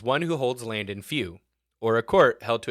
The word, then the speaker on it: feu: Few is spelled feu. F few.